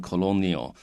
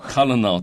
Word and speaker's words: colonel: 这 colonel 通常是相对于我们的上校那这 colonel 这个字这个英文里面很有趣，就是你要特别注意它的发音它不是那种 colonial colonel 都不是是 colonel 一个的声音跑出来那这个如果各位对这个为什么这个字会这样念有兴趣的话，你可以去查一下 Google 一下那 Wikipedia 里面我印象中好像有谈到好，所以呢这个地方我们讲到说 on